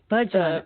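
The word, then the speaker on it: Bhajan: Is it Bajan? No worries. It's all good. It was Yogi Bajan. He's Bajan. Okay.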